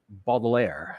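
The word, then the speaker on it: Baudelaire: a short poem by Charles uh balair I believe you say his name uh it's called the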